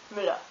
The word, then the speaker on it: Müller: I'm going to be using the prename Jürgen, to show you how the long U sounds, and the last name Müller to show you the short U sound. Müller.